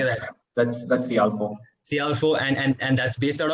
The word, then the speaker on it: Cialfo: That's CIALFO.